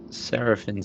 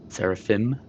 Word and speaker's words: Seraphim: zoom in and out sarapin station was where we were seraphim I was getting the pronunciation wrong and say we want